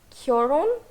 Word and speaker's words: 결혼: Okay, so the difference lies in the first syllable. 결혼 for marriage and 이혼 for divorce.